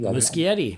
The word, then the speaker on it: Muschietti: If it's me and I'm the guy in control, is it Muschietti? Is that how you pronounce it? Or Muschietti? Muschietti, yeah. Muschietti, okay.